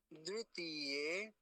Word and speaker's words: द्वितीय: वह क्या होता है द्वितीय द्वितीय एक शब्द होता है इसके आगे का तृतीय तृतीय ऐसे बोलेंगे तो हमें इसका उच्चारण सही पता होना चाहिए द्वितीय अब अगला शब्द देखिए